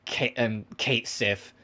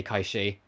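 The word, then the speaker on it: Cait Sith: I am pronouncing it in its original Gaelic origin. I'm not going to say Kate Sif. I know that's what they'll say in 7 Rebirth, but I will still say Kaishi, because it's what it is.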